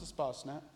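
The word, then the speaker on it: Espacenet: looks like it's spelled East basement but it's pronounced a spa snap and I think Brooke will be showing you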